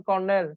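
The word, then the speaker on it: colonel: পারবেন না আস্তে আস্তে অল্প অল্প করে যেমন কর্নেল কর্নেল বানানটা কিরকম আপনি যদি এরকম লিখেন হবে না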